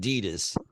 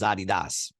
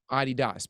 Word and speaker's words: Adidas: comes from who yeah um we call it Adidas but the actual pronunciation is Adidas Adidas because the guy's name was Adolf dassler right